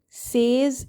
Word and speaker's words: says: Says is not the way to pronounce it.